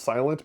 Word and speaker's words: SLNT: I think I know it's pronounced silent but I think it's like slnt or something like that they make